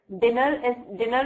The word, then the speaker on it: dinner: Like dinner is divided into two syllables, that is dine and ner, right? So which one is the stressed one? Dinner. Which one is stressed? Din or ner? Which one is stressed? Which syllable is stressed? Yes, it's dinner.